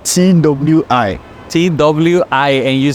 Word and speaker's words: Twi: oh you told me last time yeah yeah it's spelled t w i Twi I and you say all right yeah